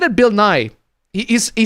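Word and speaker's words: Bill Nighy: No, actually I I listened to the audio book and he pronounced it Bill Nye like as in Bill Nye the Science Guy.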